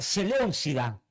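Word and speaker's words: Seléucida: En el sur, la dinastía Tolomea y en el norte la dinastía Celeucida con acento en la U, que no lo tengo puesto ahí.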